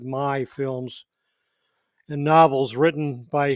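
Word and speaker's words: Karl May: based on the popular carl may or did they pronounce it my films and novels written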